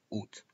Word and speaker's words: août: pocas palabras en francés, donde no se pronuncia la vocal principal. El mes de agosto nunca será pronunciado août. En ese caso, eliminan siempre la a. Por lo tanto, tened mucho cuidado con la pronunciación de agosto, août.